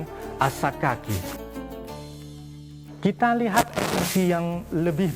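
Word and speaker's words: السكاكي: Abdus Salam Asyaddadi membacanya bukan Assimaki tapi Asakaki.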